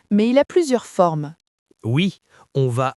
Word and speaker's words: au: Le A se combine avec le le pour former O. Répéter O. C'est plus facile à prononcer. Donc si le lieu est masculin comme restaurant, on dit je vais au restaurant.